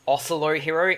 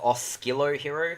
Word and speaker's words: Oscillo Hero: ocelo hero instead of oscillo hero because when i was a kid i pronounced it oscillo hero but it's actually ocelo hero and that is because it's derived from the word oscillation what does the mod